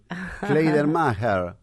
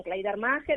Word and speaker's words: Kleidermacher: Buenos días, y pronunciaron bien mi apellido, gracias. Kleidermacher, ¿está bien? Es difícil. Está bien, Kleidermacher o Kleidermacher.